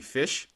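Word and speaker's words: ghoti: It's called Gotti, but it's really supposed to be fish because of the way you you can phonetically pronounce GH having the F sound in a word like enough. O, the way that sounds in women, and TI in nation kind of has the ish sound.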